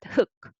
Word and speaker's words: 흙: So it is not her, but hook, hook. Okay, so root combination is different.